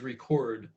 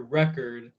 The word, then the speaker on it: record: But in English, for example, record versus record, they're spelled the same, but if you put the stress of the word, so if you're holding the syllable longer, if you're saying it a little bit louder, record, that conveys that you're talking about like a disc versus record. If you're putting the emphasis on the second syllable, that's the act of